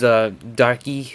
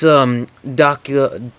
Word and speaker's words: Daki: She's Darky. I keep saying it wrong, but it's Daki like this guy Daki and